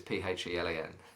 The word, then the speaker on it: Phelan: But everyone thinks that Phelan is spelled with an F, but it's Phelan.